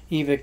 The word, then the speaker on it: Evike: si guys so far in my other two EVIC boxes yeah it's pronounced EVIC I guess I was calling you